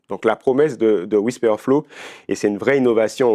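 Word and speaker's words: Wispr Flow: aussi sur mon téléphone, c'est Whisper Flow. Euh donc ça s'écrit w i s p r f l o w.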